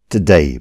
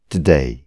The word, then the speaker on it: today: Today भनेको आज. यो शब्दलाई भन्नुहोस् त एकचोटि. Today. यसलाई यदि तपाईले today भन्नुभयो भने गलत उच्चारण हुनेछ. यसलाई भन्नुहोस् today. To होइन t अनि day होइन day.